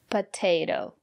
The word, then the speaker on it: potato: look at this word potato the first letter T is pronounced as T because the syllable after the letter T is stressed potato and the second letter T is pronounced as a fast the potato because the syllable